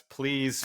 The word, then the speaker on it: Pleese: So like, and I just want to point out, it's Pleese Foods is the name of the business, but it's spelled slightly different.